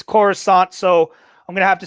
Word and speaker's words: Coruscant: it like as it's spelt but then i spell it right that's yeah it's it's coruscant so i'm gonna have to say jake misses